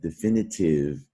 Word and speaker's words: definitive: spelling at the end it seems like it should rhyme with five the way that with the silent e usually silent ease we'll turn that vowel into a long vowel sound tithe but definitive all right just a